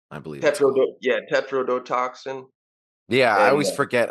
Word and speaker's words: tetrodotoxin: fish that they gave him right I think tetr toxin I believe tet yeah tetrodotoxin yeah I always forget how all the syllables work in there yeah it's it's a